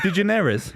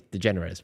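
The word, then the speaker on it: DeGeneres: jerz with George Bush de jerz is that what her name is you think so yeah I mean pronounced slightly different I think it's degenerous but yeah yeah whatever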